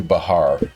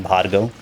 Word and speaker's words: Bhargav: actually a softer be the Indian pronunciation the correct pronunciation I guess is the B is softer and the H is slightly more emphasized so it's like badago Ah that's like bad